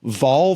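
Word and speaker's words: Wahl: the lockdown yeah it's spelled with a W but it's German I did not know it was pronounced V like borrowing animal probably I think it's pronounced V so They they joined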